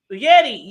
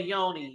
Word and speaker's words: Yeti: it's called a uh Yeti Yeti that's what it is yeti y-e ain't that what I said no you say Yoni you it's a Yeti a Yeti might and